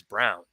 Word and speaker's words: Braun: that that bothers me his name is brown spelled like brawn makes sense listen he can't dribble